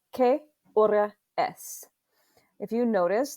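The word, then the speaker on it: qué: on that vowel and q u is always pronounced with a k sound so this is not uh quay or any it's k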